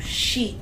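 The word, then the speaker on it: し: Número quatro tem duas leituras, tem duas formas de dizer. quatro xi em chinês, que é o mesmo som de x de morte.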